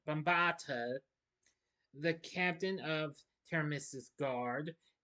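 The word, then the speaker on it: Bombaata: Conan and Malik are joined by Bombasta. No, not I'm sorry, I mispronounced it. Bombat, the captain of Terramis' guard.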